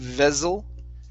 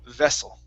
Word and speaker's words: vessel: Instead of vessel, okay, double S usually is going to be an unvoiced S sound. So vessel.